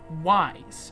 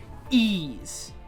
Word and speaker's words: Ys: to see this game wise wise origins are actually pronounced e's i don't know it